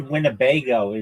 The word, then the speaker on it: Winnebago: Just the I the word wnebago is like funny. It's wingo. It's four um syllables.